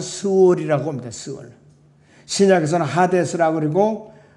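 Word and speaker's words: שְׁאוֹל: 두 번째, 지옥이 구약에서는 발음은 스월이라고 합니다. 스월.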